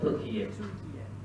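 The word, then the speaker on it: Türkiye: Turkey or Turkiye? Turkiye. Turkiye. It used to be pronounced as Turkey. Now there's a Turkiye.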